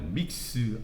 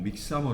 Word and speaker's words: Mixamo: 제 가 링크한 URL 이 Mixamo 페이지 이고 , 발음 은 Mixamo 또는 Mix-mo 입니다 .